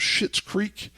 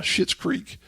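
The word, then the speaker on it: Schitt's Creek: apparently there's a show called shit's creek it's not spelled like you know pooh creek it's spelled sh or excuse me s-c-h-i-t-t uh shit's creek so people have said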